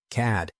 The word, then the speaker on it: CAD: The CAD system, she pronounced it as a word, CAD, crashes about once a week, but you learn to work around it.